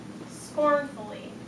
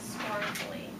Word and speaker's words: scornfully: than one syllable scornfully which syllable is stressed in scornfully the last one scornfully okay listen to the different ways we stress scornfully scornfully scornfully it's the first one is how we say it isn't it so scornfully